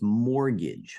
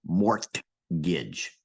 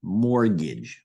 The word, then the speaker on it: mortgage: look at here is mortgage mortgage and when you pronounce this word you swallow the T you really don't pronounce the T so for example you don't say Mor Gage no you swallow that